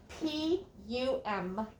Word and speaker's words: pumice: is called pumice p-u-m-i-c-e pumice p-u-m-i-c-e hummus not pomace it looks like pamice doesn't it pumice pumice is a is